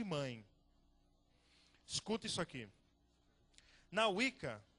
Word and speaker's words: Wicca: Wicca, isso é assim que pronuncia? Wicca.